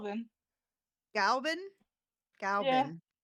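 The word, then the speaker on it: Glas Gaibhnenn: Galvin? Yeah. Galvin. Okay, so I was just pronouncing too many N's.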